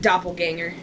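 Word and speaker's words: Doppelgänger: Or maybe we're a doppelganger? I don't know. How do you say it? Doppelganger.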